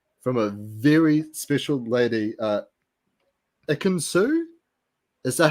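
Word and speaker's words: Ekin-Su: But then we get a confessional, guys, from a very special lady, Ikinsu?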